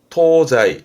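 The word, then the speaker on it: 東西: 동서 발음은 토자이 토자이 이게 어려워요. 원래이 서쪽에 서의 음은 기본은 세로 갑니다. 세. 하지만 동서로 묶기는 케이스는 토자이로 토자이로 가니까 요런게 그래서 때 또 언급이 되기도 합니다만은 요렇게 묻게 되면 그렇죠.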